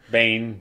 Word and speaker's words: Biehn: Also, having Michael Biehn or Bean or however you pronounce it, Bane. Yeah. Bane.